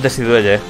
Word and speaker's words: Decidueye: O sea, me revive Altaria y me revive el Decidueye. Sí, se pronuncia así.